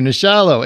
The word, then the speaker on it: Nachalo: uh discuss nasholo now how do you say it troy the shallow thank you nishallah aka the beginning written